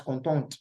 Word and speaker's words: contente: That's why you see content carrying E, and then we pronounce contente, right?